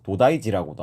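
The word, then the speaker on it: 東大寺: 일본어로 동대는 도다이, 그리고 사는 지라고 읽어서 도다이지라고도 합니다.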